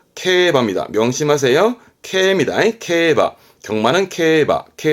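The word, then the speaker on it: 競馬: 요게 중요합니다 글자는 그렇죠 말을면 말마자 만해요 이때 발음은 바입니다 명심하세요입니다 케바 경마는 케바 바 뒤글자 했던 거 바퀴륜 자거든요 경륜이 발음은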